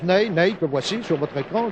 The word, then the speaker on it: Pelé: jeune avançante brésilien n'aille cela s'écrit comme notre maréchal n'est mais ça se prononce Neil que voici sur votre